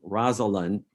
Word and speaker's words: Rosalind: Now, I must say, my instincts are to pronounce her name Rosalind with 3 syllables.